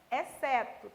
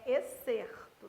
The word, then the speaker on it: excerto: Pelo amor da vaca preta, não leia exceto, tem R, é excerto, tá?